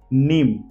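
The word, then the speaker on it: mneme: है let's see some example first example is नीम अब ध्यान से देखिए एम एन ई एम ई नीम क्या होता है इसका मतलब याददास्त स्मृति नीम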